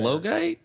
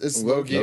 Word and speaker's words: Logia: I got chastised. It's Logia. There's- I pronounce say it.